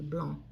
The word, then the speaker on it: blanc: so it would be blond don't don't pronounce the C BL so so it